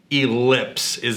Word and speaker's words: Elips: So the new product we're going to talk about today, and help me on the pronunciation in case I mess this up. It's called Elips.